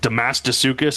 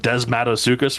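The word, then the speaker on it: Desmatosuchus: John Goodman is like, he says like Damasticus instead of Desmatosukis for one creature.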